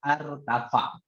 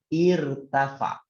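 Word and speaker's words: ارتفع: ya hamzahnya berharokat kasroh irtafa tidak boleh bacanya artava Bacanya apa irtafa jadi bacanya irtafa enggak boleh bacanya harta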